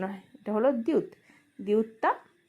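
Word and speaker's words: 티읕: আর এটা হলো খিউ, খিউকটা খ বা ক এর মতো উচ্চারণ হয়। এটা হলো দিউত, দিউতটা ঠ বা দি এর মতো উচ্চারণ হয়।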